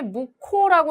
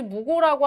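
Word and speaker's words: 묵호: 자, 그 다음에 무코라고 해야지 무고라고 하면 안 됩니다.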